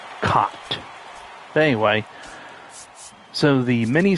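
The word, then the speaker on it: Kaat: It's not pronounced cat, it's Cott.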